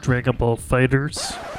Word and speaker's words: Dragon Ball FighterZ: actually, Mike, it's pronounced Dragon Ball Fighters.